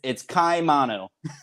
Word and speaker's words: Ciamano: It's Ciamano. That's why I was saying it. Hey, somebody on a podcast said Ciamano, and I was like, that must be it, because he must have asked him how to say it.